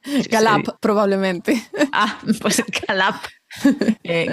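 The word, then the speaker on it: Gallup: El otro dato que tenemos por aquí es el estudio de Gayup o Gayup, no sé cómo se pronuncia. Galap, probablemente.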